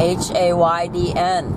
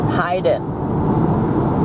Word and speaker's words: Haydn: different friends Joseph Haydn h-a-y-d-n h-e-i-d-e-n in German means pagan and they're both pronounced the same Haydn Hayden very very similar then you've got Beethoven